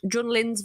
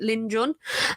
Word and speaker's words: Jun Lin: So in Nick's Luca episode, he pronounced Jun Lin's voice name wrong. He pronounced it Lin Jun, and it is actually Jun Lin.